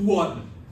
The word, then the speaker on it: duodenum: is called the, and you got to pronounce the small intestine, the first part, like you're from Brooklyn, this is the duodenum, okay?